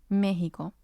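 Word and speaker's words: México: the last syllable well the tilde is used when there are exceptions to the rule for example mexico mexico without the tilde on the e it would sound different it would sound like mexico mexico and we'll take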